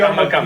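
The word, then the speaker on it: Ummagumma: be Umaguma.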